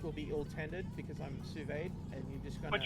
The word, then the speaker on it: sous vide: I don't know how to pronounce that, Bill, but Bill basically said... Yeah, it's sous vide. Sous vide.